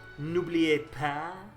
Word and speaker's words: N'oubliez pas: It's called N'oubliez pas. Yes, that is exactly how you pronounce it.